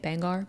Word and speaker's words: Bangor: I think that's how you say it, Bangor.